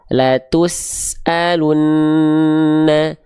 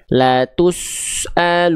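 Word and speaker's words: لَتُسْأَلُنَّ: Maka pastikan sin sukunnya jangan dibaca gini. La tusalunna la tusalunna. Nah, bunyi sinnya enggak boleh us enggak boleh ngikutin bibir monyongnya domah. La tus enggak. Tapi lihat bibir saya ketika melafalkan sin. La tusalunna.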